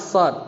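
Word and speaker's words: صاد: Kalau shad itu bacanya gimana sih? Sebenarnya yang kita baca itu kan begini. Gitu ya. Sebenarnya kita baca kan gini. Shad. Kita baca ini. Ya, cara bacanya gini. Shad. Harus ada dalnya.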